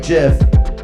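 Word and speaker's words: GIF: the first constant end of the floor that pronounced differently like jiff like Jeff like Jeff I apologize to your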